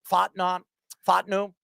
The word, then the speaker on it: Fontenot: Morris and general manager Terry how do you pronounce that? Fontenot.